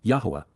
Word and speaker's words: Yahweh: Yahwa. Yahweh. The proper pronunciation of the name of Eloha, God as directed in his Torah teaching regarding his ha existence in our shalom.